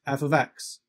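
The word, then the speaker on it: f(x): of writing an equation so that y equals f of x and this part here just means function and it's pronounced f of x so if you see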